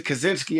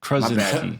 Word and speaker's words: Krasinski: I just remember, I remember when it first started, we ran into Krasinski at some party, and me thinking, there's Krasinski. no way. You always mess up John's name. Krasinski. You missed the R.